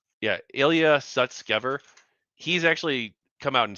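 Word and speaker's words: Ilya Sutskever: former co-founder actually the co-founder of openai uh Ilia Susker let me say his name right. Yeah. Ilia Sutskever.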